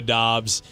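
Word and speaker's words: Doubs: They also acquired Romeo Dobbs. I always forget which it is. Romeo Dobbs. But it looks like Dubs the way it's spelled.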